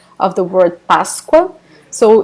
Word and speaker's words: Páscoa: Páscoa, Páscoa. So the S will be pronounced like this sound. Sh, sh, sh. Páscoa.